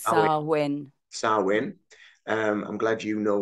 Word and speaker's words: Samhain: It's actually spelled Samhain, but it's pronounced It's Samhain. our win.